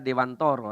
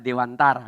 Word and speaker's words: Dewantara: Ki Hajar Dewantoro ini kalau orang Jawa membacanya Ki Hajar Dewantoro ya kalau orang pada umumnya biasanya membaca Ki Hajar Dewantara gitu ya Nah Bapak